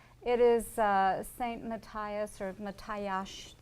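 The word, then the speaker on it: Mátyás: Matthias, or Matthias, because S is pronounced S-H, church, and then you can see to the left of there is St.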